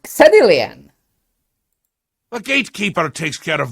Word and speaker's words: Xedilian: So why are you why is it that X is so many times pronounced as Z?